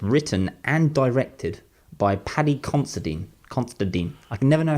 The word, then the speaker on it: Considine: It's coming out the 30th of March, and it's starring and it's written and directed by Paddy Considine.